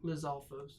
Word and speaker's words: Lizalfos: Lizalfos.